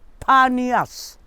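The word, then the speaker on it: Panias: rest of the history Banias started as a worshipping place called not Banyas but panniers it was a worship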